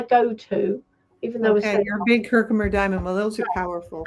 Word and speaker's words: Herkimer: Herkimer. We call it Herkimer here. But is that what you call it, Teresa, down south? Yeah, Herkimer? Probably I might say it wrong. I say everything wrong. No, but it comes from Herkimer, New York.